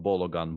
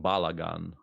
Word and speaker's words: Balagan: my opponent's approach uh it was spelled with double a's actually not bologna balagan and it wasn't based